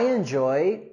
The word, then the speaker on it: enjoy: Okay, with the word enjoy, we want to go higher with our stress and intonation on the second syllable. I enjoy, I enjoy. And we also have our consonant sound in enjoy.